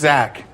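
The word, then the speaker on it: Xach: It's actually pronounced Zach. It's like a Xanax.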